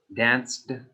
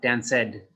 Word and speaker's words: danced: not say jump head danced danced not dan said and studied studied study